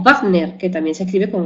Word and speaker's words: Wagner: alemanes por ejemplo wagneriano de Wagner se escribe con w pero se se pronuncia con b y beares de Bear